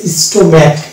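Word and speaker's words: stomach: যেমন এটা এরকম হচ্ছে স্টোম্যাক, এই যেখানে সিএইচ এ ক উচ্চারণ হচ্ছে, সি এর এক্সট্রা কোনো উচ্চারণ হয়নি, এটা হচ্ছে স্টোম্যাক, টেকনোলজি,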